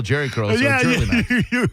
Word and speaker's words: Jherlymax: How would you pronounce that? That's Jerly Max. I mean, well, the J could be silent. I guess it could be Hurley Max. No, that's Jerly Max for sure.